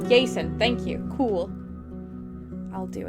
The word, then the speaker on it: Aesen: Quirrell says, I think Aesen's name is usually pronounced Yason? Yason, thank you.